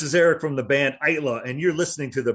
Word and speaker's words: Aittala: Technically, it's Aittala, or one or two syllables, but either one is good. But if you look at it, probably Aittala makes more sense.